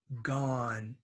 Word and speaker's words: gone: Go, went, gone. That's not gone. It's ga, like an A.